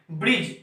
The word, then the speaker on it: ब्रिज: Friends, अगर example के तौर पे लें तो एग्जांपल में आता है BRIDGE, ब्रिज। इसको हम ब्रिज पढ़ते हैं, ना कि ब्रिज, ऐसा नहीं पढ़ते हैं, ब्रिज पढ़ते हैं।